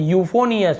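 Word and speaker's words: euphonious: फिर देखिए यूफोनियस, हमें ईओ नहीं जोड़ रहे ना, EU नहीं बोल रहे, हमें यूफोनियस, तो केवल यू बोल रहे हैं, EU है तो यूफोनियस, मधुर मीठा।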